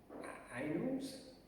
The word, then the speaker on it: annals: Annals?